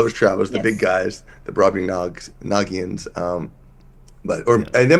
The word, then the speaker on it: Brobdingnagian: you know but but the way we've always pronounced it is bring nagan so uh well I guess we can defer